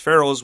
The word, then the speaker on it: Pharaoh: this word the pronunciation I say Pharaoh but I had a teacher who said phara have you heard never no and as a previous social studies teacher I have also never heard this maybe I'm wrong but